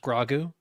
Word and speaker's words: Grogu: It's pronounced grogu actually.